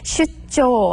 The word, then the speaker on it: 出張: 근데 발음은 슈조 하고 정확하게 하셔야 되는데요.